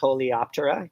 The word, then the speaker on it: Coleoptera: The beetles are the sheathed wings, or the, how do you pronounce that? Coleoptera.